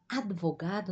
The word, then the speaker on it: advogado: Observa aqui, ó. Advogado. Nós pronunciamos advogado.